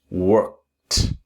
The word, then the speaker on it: worked: You take the present tense work, step one, and then work and add the t sound. Work worked. Pronounce very slowly. If your pronunciation is work, then you need to debug your pronunciation by repeating slowly. Work present tense worked.